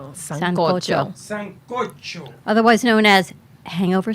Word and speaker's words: sancocho: Let her pronounce it. All right. Sancocho.